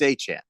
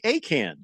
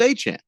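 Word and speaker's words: Achane: It's Achan. Achan. That's what Remember he's. early in the season, you were saying Acan. That's what he said. What? He said is pronounced Achan.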